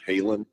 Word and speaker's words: Halen: there's a town called Halen, because the band Van Halen, and yeah, that there is a small town called Halen, or Holland as they pronounce it, in Belgium, which presumably is where Eddie and Alex's ancestors came from.